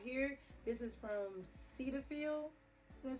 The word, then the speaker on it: Cetaphil: use this cleanser right here this is from cetaphil that's how you say it yes cetaphil it's